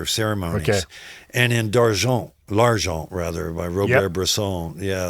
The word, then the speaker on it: L'Argent: So, pronounce the title, please. L'Argent.